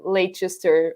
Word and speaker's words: Leicester: It's like it's very very odd how to pronounce like things like Leicester as in Leicester, or pronounce things like Greenwich as Greenwich and not as Greenwich.